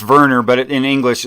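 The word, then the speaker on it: Werner: the the the German information theorist wner it's pronounced Verner but in English it's wner G git T yeah he was he was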